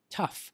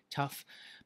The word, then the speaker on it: tough: this case in this case this word is pronounced tough now usually um people who try to learn